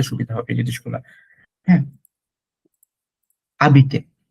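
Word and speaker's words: habiter: হ্যাঁ, আবিতে, it's called আবিতে, নট হাবিতে।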